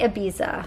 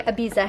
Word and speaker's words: Ibiza: to canada this is i want to say ibiza but sebastian just told me i am saying it wrong so i'm going to say ibiza hair this is a